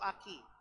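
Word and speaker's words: אחי: Kalau laki-laki itu Aki. Kalau perempuan Akoti. Apa saudara? Akoti. Itu kalau ini ACHI, Aki dibaca bukan Aci, saudara ya, Aki.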